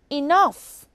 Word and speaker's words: enough: H is silent now consider the word enough GH is at the end of the word and it makes the F sound there are some words